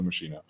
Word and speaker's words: Machino: mashino look at me I'm using a preferred pronunciation Cho machino um that masino could could sort of serve